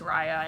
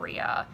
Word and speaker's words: Raya: that um and yes it is pronounced raya and not rhea um so that was